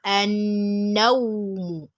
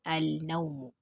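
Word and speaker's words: النوم: Then we have an-nawmu. It can never be pronounced as al-nawmu because noon there takes shidda, and that's why it is sound letter. Sound letter would always take shidda immediately after alif and lam.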